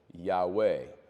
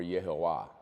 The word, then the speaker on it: Yahweh: wh remember the uh the original Hebrew the ancient Hebrew doesn't have uh vows and so it's all consonants y h wh we pronounce it Yahweh probably closer to yehovah the reason we don't really know is because um since vows were added later we don't know how that name's pronounced and today Jewish people